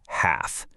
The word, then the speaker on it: half: And the exact same rule applies to the word half. Doesn't matter if you're talking about half an hour or cutting a pizza in half. You never ever pronounce that L.